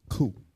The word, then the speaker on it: coup: What is a coup? And the P is silent, as you can see with the little pronunciation thing. It's a coup.